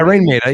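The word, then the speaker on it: Raine Maida: Dario said, Rain Maida, is that how I'm saying it right? Yeah, Rain Maida, yeah.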